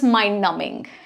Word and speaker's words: mind-numbing: Okay, next is mind numbing. And again, B is silent here.